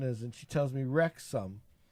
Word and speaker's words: Wrexham: And I asked her what the name of the town is, and she tells me Wrexham. Like, Wrexham. She Wrexham. says Wrexham. Yeah, now, because that's how it's spelled, but and that's she says how you Wrexham.